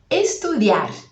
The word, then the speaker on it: estudiar: Estudiar. Estudiar. Apareceu um I aí. Atenção na pronúncia para você não falar estudiar. Estudiar. Esse I, ele é mais fraquinho que o A.